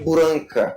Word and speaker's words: Blanka: No Japão, o Blanca ele é pronunciado de Branca.